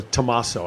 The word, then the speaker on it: Tommaso: Or Tommaso, I guess. is really how it's pronounced.